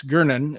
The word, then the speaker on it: Gernon: That Bruce Gernon, and that's how his name is spelled or pronounced.